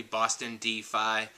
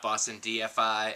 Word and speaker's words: Bostondfi: the file's good and you have to pronounce the name correctly Boston dii not Boston DFI I mean it's fine